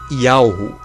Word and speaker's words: YHWH: Yahushua está relacionado ao tetragrama YHWH, cuja pronúncia é Yahu, que significa Pai, ou seja, Deus, o Deus Criador.